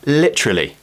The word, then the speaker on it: literally: today is the word literally literally now in British English we do this thing called elision and elision is when we remove a sound from a word technically just to